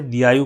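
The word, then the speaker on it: Diaoyu: चीन इसे दयायु कहता है। दयायु मैं स्पेलिंग लिख रहा हूं।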